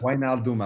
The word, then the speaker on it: Wijnaldum: Wijnaldum. It's Wijnaldum, apparently.